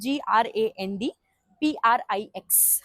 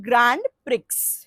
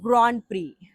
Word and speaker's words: Grand Prix: Now he wrote a word GRAND PRIX. How do we pronounce this?